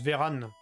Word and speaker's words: Véran: Prononce Véran, plutôt.